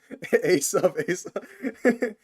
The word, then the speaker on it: Asa: I see all of you spelling it and pronouncing it wrong on purpose. Asa.